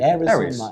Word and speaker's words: Ares: How do you say Ares?